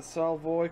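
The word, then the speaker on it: Solvay: in 27 and also I believe you pronounce it the saw boy conference that was held in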